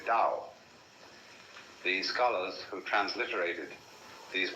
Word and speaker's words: Dao: The way of the Dao that is spelled in English Tao but by Mandarin speakers pronounced approximately Dao.